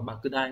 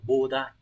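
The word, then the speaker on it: 莫大: Này, từ này nó cũng mang nghĩa là khổng lồ, lớn, nhưng mà nó sẽ đọc là bakudai, không phải là bodai.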